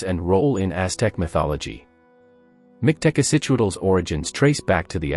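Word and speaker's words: Mictecacihuatl: Mictecacichuatl, pronounced Mictecacichuatl, is a central figure in Aztec mythology, revered as the Queen of Mictlan, the underworld.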